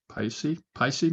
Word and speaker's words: Pusey: Paisi, maybe Paisi. I don't know. I'd say have the guy from Louisiana pronounce it. I'm sure Phil, how do you? Yeah, that Phil, would how be do the you? most interesting pronunciation. Pusey. It's Pusey. Pusey.